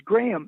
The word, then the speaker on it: Graeme: It's Graham. His first name is spelled Graeme, Graham, Okay.